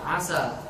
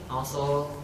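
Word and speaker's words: عسى: Contoh kalimat asa, taroji ya, seandainya. Gimana kalau misalkan orang mengucapkannya dengan tebal sinnya aso, gimana tuh?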